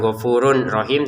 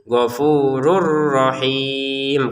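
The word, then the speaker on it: غَفُورٌ رَّحِيمٌ: Ya, tanwinnya dimasukin ke ro sehingga cara bacanya bukan gfurun rahim tapi gfurur rahim. Karena tanwinnya atau matannya kita masukin ke huruf ro yang kedua ini.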